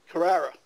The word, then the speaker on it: Carrera: Actress Alexis Carrera. I hear she's easy on the eyes. I don't know. And you said her name wrong. Carrera. She's not a Porsche.